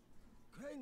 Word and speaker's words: Crane: Crane rhymes with train and brain and sun and grain and rain and plane and the other kind of plane.